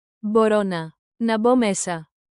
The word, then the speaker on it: μπορώ να: Tap this groove, bo ro na, bo ro na. Borona. Emphasize the rising row.